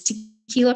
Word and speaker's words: Tekeyla: have permission to use it so it is tequila Friday Studios and you'll notice that tequila under the Red X is spelled differently because that's how my name is